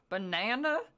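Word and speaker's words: Banane: Banana.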